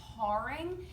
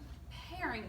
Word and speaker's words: paring: Make sure you're pronouncing that correctly. It is not paring, it is a paring knife, okay?